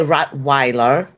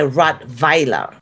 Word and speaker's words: Rottweiler: v so you say rot Wier the Wilder we say R Vier the V it's a v it's it's you know the W in Germany is pronounced as a v basically so that's why we